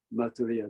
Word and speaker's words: Maitreya: This is Maitreya Buddha.